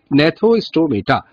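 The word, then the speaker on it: Gnathostomata: यहां पर नेथोस्टोमेटा के पहले जी लिखा हुआ है तो जी बेटा साइलेंट होता है, जैसे टेरिडोफाइटा में हम पी लिखते हैं लेकिन बोलते पटेरिडो तो नहीं बोलते हैं, उसको टेरिडो बोलते हैं। तो आप लोग भी सब प्रोनाउंस करेंगे नेथोस्टोमेटा।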